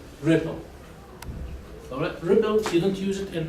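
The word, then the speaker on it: RPL: brought over network is ripple pronounced ripple okay all right so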